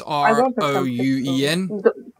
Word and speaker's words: Rouen: Well, I can't pronounce it. It's Rouen.